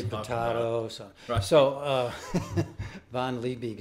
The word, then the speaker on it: Liebig: say potato so uh von lee big is the way i pronounce it because i live in the woods and no one's there to correct me really good yeah and